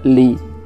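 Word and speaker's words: 梨: Esto es porque la palabra china para peras se pronuncia li. Suena igual que la palabra salir o despedida, que también puede significar separación.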